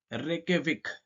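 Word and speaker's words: Reykjavík: यहां पे देखेंगे कि इसको प्रोनाउंस कैसे करते हैं दैट इज रेके विक ठीक है रेके विक जो कि आइसलैंड की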